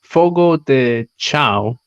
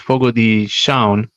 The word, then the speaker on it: Fogo de Chão: Um, it reads Fogo de Chao. That's what it looks like, but it's actually pronounced Fogo de Chão.